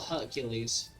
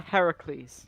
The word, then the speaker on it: Heracles: one of maran's bears is it Heracles or Hercules which is the preferred pronunciation of your bear's name uh Heracles Heracles so it was Heracles who had last